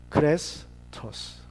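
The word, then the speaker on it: χρηστός: 뭐 한말로 하면 크레스토스 할 때 친절이라는 말은 좀 긴 에 발음이고, 그리고 크리스토스는 같은 비슷한 발음인데 짧은 이 발음이에요.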